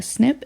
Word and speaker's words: SNP: a c this is what we'd call a snip it is a single site in the genome